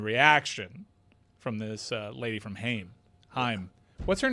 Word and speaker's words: Haim: Haim. Yeah, Haim. Like the first syllable. They're Hyman.